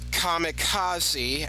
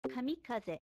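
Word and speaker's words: kamikaze: This is kamicazi as we say in English but in Japanese they say kamikaz.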